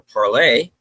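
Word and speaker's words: parlez: parlay originated with the French word parlor or parlay, spelled with a Z, but pronounced with a Y, are forms of the French verb to speak.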